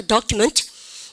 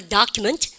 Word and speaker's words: document: 영국 애들은 어떻게 발음합니까? document 그래요. 여러분들 O 발음은 영국 애들은 O로 한다라고 제가 말씀드렸습니다. 그리고 미국 애들은 여러분들 O 스펠링을 아 발음하는 걸 좋아하거든요. 그래서 미국 애들은 발음하니까 document. 그죠?